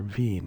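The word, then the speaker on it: Wien: we reached Vienna or Vine as it's pronounced in German we took a self-guided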